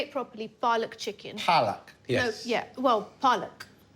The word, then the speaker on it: palak: Palak.